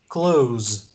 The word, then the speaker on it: close: the opposite of open you pronounce it close with z at the end and if it's synonymous